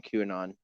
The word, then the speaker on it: QAnon: a big conspiracy during qanon but uh I it's pronounced Canan I miss qanon man